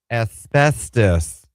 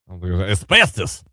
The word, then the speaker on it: asbestos: Asbestos. Asbestos. Oh, man. Just saying. So if you're, in case you're wondering, the word is pronounced asbestos, not asbestos.